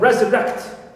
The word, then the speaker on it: resurrect: Also I have resurrect. I have third syllable. Rect contains a vowel, plus ka and ta.